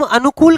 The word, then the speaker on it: अनुकूल: दीर्घ वाला नहीं सर दीर्घ वाला नहीं अनु में छोट की अ कूल में बड़ की समझ गए सर